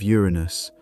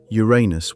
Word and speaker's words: Uranus: For the record, astronomers generally prefer Uranus over Uranus. The former is closer to the original Greek.